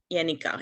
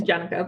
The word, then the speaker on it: Jennica: i believe in uh yanica if i pronounce that correctly that's my dutch pronunciation it's jennica but yes i like